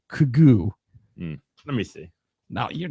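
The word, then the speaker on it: Quiogue: made that up I no dude it's Q UI o g u e kugoo let me see no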